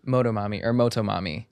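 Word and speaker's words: Motomami: with some of the production that where Rosalia, Moto Mami went. Yeah. I agree. How do you say it? Moto Mami.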